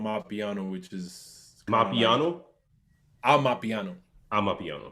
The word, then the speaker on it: Amapiano: Amapiano. Amapiano.